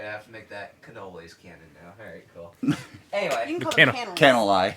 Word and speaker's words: cannoli: full of the icing the cannelli or canelai that's what the label said oh i'm mispronouncing cannoli yes i don't think